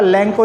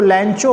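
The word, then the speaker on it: Lencho: इसमें लिखा है लैंको, नाम देखिए लिखा हुआ लैंको में, आपको ध्यान दीजिएगा लैंको, इसको लैंचो मत पढ़ने की कोशिश करिएगा, that's the लैंको, pronunciation correct करिएगा।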